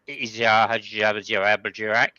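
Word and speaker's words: Hadjar: Not a great lap by Izar, which is the correct pronunciation, by the way, Lucky.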